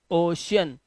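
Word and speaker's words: ocean: तो यहां पर शब्दों के बीच में सी आया हुआ है। इसीलिए इसे पढ़ेंगे ओशियन।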